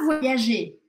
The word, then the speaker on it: voyager: Tu vas voyager. Tu vas voyager. Tu vas voyager. Tu vas voyager. Aqui eu não falo esse R. Je ne prononce pas le R de la fin de voyager.